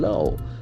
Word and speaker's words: law: The pronunciation very straight. Law. Low. Can see that Law. O sound. Low. Law. Our lips must be rounded.